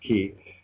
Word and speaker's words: chi: X is the Greek letter for key it's pronounced key uh or in you know Chinese because of